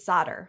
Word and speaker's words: solder: Its primary pronunciation is solder.